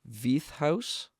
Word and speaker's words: Veith House: now and that's I know I'm going to mispronounce this once again, V House.